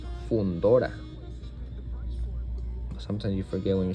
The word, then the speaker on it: Fundora: it's a Spanish word, I have to pronunciate exactly how it's supposed to be pronounced. Which is not Mendoza. This is Mendoza, and this is not Fundora. This is Fundora.